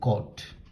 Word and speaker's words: cot: Cotangent, you say cot.